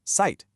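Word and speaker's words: Zeit: The German Z has this sharp t sound. So site, the word for time is pronounced site.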